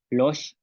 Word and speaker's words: lox: Tenemos palabras como luch, ícara, losh, que es golpear, y lac, que es traste.